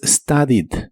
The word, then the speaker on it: studied: En el pasado es studied. Es similar a la forma del presente, solo que ahora termina con IED, aunque no se pronuncia la E, solo studied. Studied.